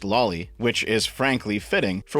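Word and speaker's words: Lawly: yes that's spelled l a WL Y and pronounced Loi which is frankly fitting for what we're about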